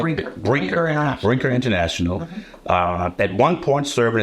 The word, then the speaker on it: Brinker International: in uh at Baker into interational did I pronounce that right Brer Brer interational Brinker International uh at one point serving as brand president